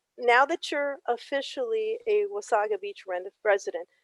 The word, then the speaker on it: Wasaga: is that is that why it's wasabi and not wasted yeah it's the nottawa narawasaga river and it's wasaga beach and uh it doesn't sound right but that is the way you're supposed to pronounce it and um interestingly enough